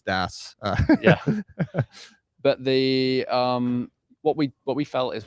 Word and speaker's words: DAS: So it's DAS.